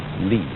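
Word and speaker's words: 理: wood or the fiber in muscle and it's pronounced lee.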